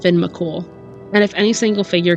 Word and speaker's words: Fionn Mac Cumhaill: His name is pronounced Finn McCool.